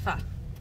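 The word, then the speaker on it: phở: It's pronounced pho.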